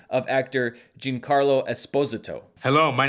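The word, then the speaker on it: Giancarlo Esposito: not nearly as much as trying to correctly pronounce the name of actor Jin Carlo Esposito hello my name is Jan Carlo Esposito the voice cast also includes Bill n Katherine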